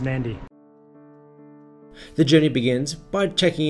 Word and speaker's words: Nadi: from Sydney through to Nardi which I've just found out is pronounced Nandi the journey begins by